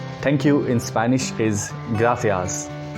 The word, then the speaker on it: gracias: you in spanish is gracias gratias the c here is pronounced as th as of english gratias gratias in latin america this soft sea is pronounced as s as of english gracias gracias th sound for